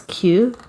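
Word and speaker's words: queue: Then, like the word Q, for example, you spell it as Kue, and then you read it as Q. What the heck?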